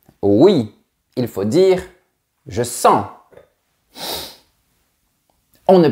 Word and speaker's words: sens: En fait, s'il s'agit du verbe sentir, oui, il faut dire je sens. On ne prononce pas la lettre S. Mais si nous parlons du nom, nous dirons le sens, c'est-à-dire la signification.